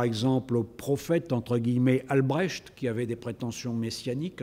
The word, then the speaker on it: Albrecht: Il s'en prend, par exemple, au prophète, entre guillemets, Albrecht, qui avait des prétentions messianiques, un certain Albrecht, comme ça s'écrit, et comme ça se prononce, A-L-B-R-E-C-H-T, qui